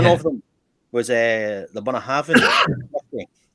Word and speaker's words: Bunnahabhain: But I went through so many permutations and variations of Bunnahabhain, Bunnahabhain. And I was like, no, it's pronounced Bunnahabhain.